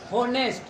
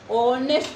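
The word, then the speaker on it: honest: होनेस्ट। क्या पढ़ते हैं पहले बताओ? होनेस्ट या ऑनेस्ट? ऑनेस्ट पढ़ते हैं। क्या पढ़ते हैं? ऑनेस्ट पढ़ते हैं। एच जो बाबू साइलेंट होता है ना, बताएंगे इसके बारे में।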